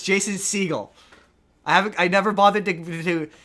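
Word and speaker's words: Segel: Well, Jason Seagal Seagull. You've got me for mispronouncing it now. It's Jason Seagull as in the animal seagull. Um Jason Seagull, not Seagal like Steven Seagal.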